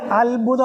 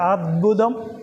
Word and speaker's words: അദ്ഭുതം: അത് അത്ഭുതം എന്ന് പറയരുത് കേട്ടോ, അദ്ഭുതം ദ എന്ന് തന്നെ പറയണം കേട്ടോ, ശ്രദ്ധിക്കണം. അത്ഭുതം എന്നുള്ള ഉച്ചാരണം വേണ്ട, അദ്ഭുതം അദ്ഭുതം അങ്ങനെ വേണം ഉച്ചരിക്കാൻ. എല്ലായിടത്തും ഈ താ ചന്ദ്രകല വരുന്നത് ത എന്ന് തന്നെ ഉച്ചരിക്കണം, ഇല്ല് വരരുത്, ശ്രദ്ധിക്കണം പ്രത്യേകിച്ച്.